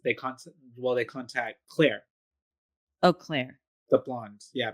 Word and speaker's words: Clear: But they talk to Clear, even though her name it's Claire, but it's spelled like clear.